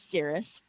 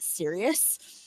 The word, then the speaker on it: Cirrus: But the other brother, whose name is Cirrus, which I did not realize for many years was not serious, like as in Sirius Black. um, I was mispronouncing it for many, many, many years until like I was like 17 or something. So it was like 5